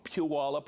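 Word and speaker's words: Puyallup: Michael from Puallup, Washington. It only took me about a hundred episodes to pronounce that right.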